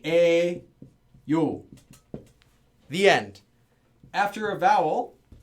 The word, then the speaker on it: 예요: Now, this pronunciation, however, it is written as 예요. No one says 예요. Everyone says 에요.